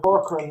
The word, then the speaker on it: Corcoran: And just to answer here, Tom said Corcoran, no K sound. It's not. There is a K sound. The C is often a hard C.